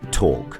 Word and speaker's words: talk: In lion, for example, we pronounce it loudly and proudly, whereas in walk, we never pronounce it at all. Or in calm, palm, or calf. Same thing with half, chalk, talk, and folk.